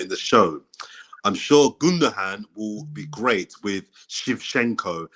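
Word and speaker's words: Gündoğan: I thought it was pronounced Ilkay Gundogan. It's better than the people that say Gundogan, and you hear people pronouncing hard G's in there and shit.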